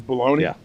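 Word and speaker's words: bologna: You're going to choose bologoney and it's spelled stupid too.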